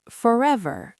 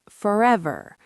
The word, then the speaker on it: forever: Butter, American, butter. British, butter. Forever, American, forever. You can really hear that final R.